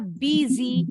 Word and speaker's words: busy: Bacanya busy, S-nya seperti Z.